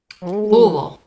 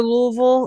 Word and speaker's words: Louisville: Louisville. The city, I think, is Louisville too. I much prefer Lexington over Louisville.